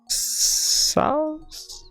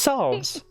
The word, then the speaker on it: salves: People came to her for teas to ease fevers, sals. Holy crap, I don't know if I'm saying that right. Oh, I just mispronounced salve. No, it's salves.